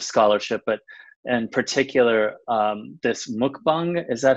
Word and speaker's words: mukbang: well, lots of scholarship, but in particular, this mukbang, is that how you say it? Yeah, mukbang, and the single nation approach to media.